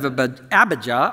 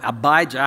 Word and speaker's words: Abijah: of the division of abhija or abijah however you'd like to pronounce it he had a